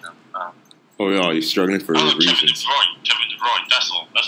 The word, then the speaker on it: Kevin De Bruyne: Kevin De Bruyne, that's all.